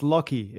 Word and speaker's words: Lachy: So it's Lachy. It's Lachy, it's a weird, Oliver. A weird okay. Australian name. It's spelt strange.